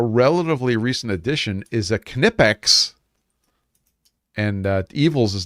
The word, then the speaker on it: Knipex: this was a relatively recent addition, is a Knipex. And Evils is not here, but he'd be very proud of me getting the pronunciation correct.